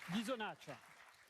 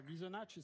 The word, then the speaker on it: Ghisonaccia: Votre ville, c'est Ghisonaccia. Ghisonaccia. On prononce pas le A. Si, on le prononce. On l'aspire. Ghisonaccia.